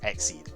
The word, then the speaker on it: XYZ: You've basically got a rank it's pronounced Exceed.